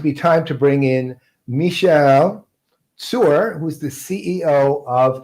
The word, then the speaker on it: Michal: Unfortunately, but yeah, but it's the true pronunciation is Michal. You need to do the Michal.